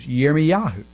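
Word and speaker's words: Yirmeyahu: jeremiah for example in in hebrew it's uh year me yahoo but if you're talking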